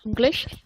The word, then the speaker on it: English: Oke, English bacanya pakai geh ya, ada gehnya. It's like when you are reading mango, itu kan nggak mango gitu kan, ada gehnya lagi, mango. Nah itu English juga sama. Ada geh.